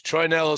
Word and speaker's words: Troianiello: It's Troianiello. Troianiello Cigars. Troianiello. That's how you say it, Chris. Troianiello Cigars.